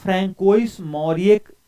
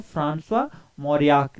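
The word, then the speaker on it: François Mauriac: तो फ्रेंकोइस मौर्यक नहीं इसका उच्चारण होता है। फ्रांसवा मौर्याक इसका उच्चारण होता है।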